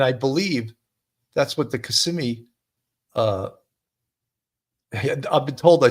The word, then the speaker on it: Kissimmee: been told I say Kissimmee wrong, Kissimmee or whatever. I say it with a New York way of saying it, and people have told me, you're saying it wrong. It's not Kissimmee, it's Kissimmee.